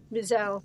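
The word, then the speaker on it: Wiesel: Eli Visel. Visel.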